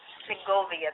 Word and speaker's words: Segovia: 2,000 years old oh wow say it now pronounce it again because I've heard about this place say it again now seia seia Segovia that is so beautiful do you know what